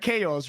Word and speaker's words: chaos: was like oh so you don't pronounce it because CH in Spanish right knock like chaos right yeah and I was like